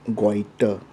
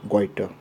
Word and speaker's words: goiter: pronunciation is quite and we should not pronounce like quite okay it will be a wrong pronunciation but rather we should pronounce weiter now the term quiter